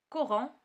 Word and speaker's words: courant: courant. donc courant كتقرا ك.